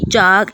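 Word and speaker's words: chalk: चाक, इसमें एल हम प्रोनाउंस नहीं कर रहे।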